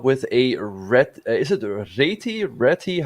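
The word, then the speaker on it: Réti: Is it Reti? How do you pronounce it? I don't know. It's Reti for me. The Hungarian way of saying it.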